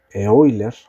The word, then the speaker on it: Euler: Como yo voy a resolver esto usando ecuaciones de Eulers la Granche. Las ecuaciones de Euler Lagranch me dicen, aquí voy a poner por Euler la Granche. Eoiler como en realidad se pronuncia.